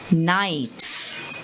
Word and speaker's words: knights: saying canites i'm saying knights and the second spelling is g-n-o-m-e-s but i'm saying gnomes i'm not saying gnomes why because the k and the g are both silent letters in the word